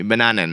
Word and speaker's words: bananen: Bananen is how they say it.